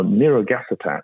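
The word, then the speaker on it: nirogacestat: limit the efficacy of bcma targeted therapy now neurogas attack as it's called uh or near unfor short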